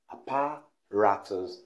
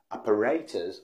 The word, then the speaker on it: apparatus: at the wrong pronunciation what people say and that's always wrong is apparatus apparatus the mystery stress by stressing it in the second syllable apparatus which is wrong the right pronunciation is operators or americans apparatus let's make a sentence